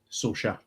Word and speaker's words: SOARSA: If you Google it, so there is very, very in amounts of way people pronounce it. But as far as I can say, SOARSA.